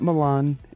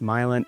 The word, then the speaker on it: Milan: Not Milan, it is pronounced Milan, and if you moved here and you called it Milan, you're gonna get laughed at.